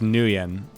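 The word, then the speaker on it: Nguyen: It's just pronounced Nuen.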